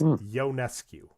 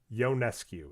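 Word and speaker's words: Ionescu: go to Sabrina Sabrina it's yonescu yonescu and I bring this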